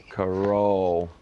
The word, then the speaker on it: Carroll: Emphasizing the role. Don't you worry. Yeah. Coroll. If it was supposed to be coroll, right? It's an unusual spelling.